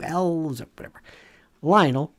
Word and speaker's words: Lionel: Lionel rhymes with vinyl.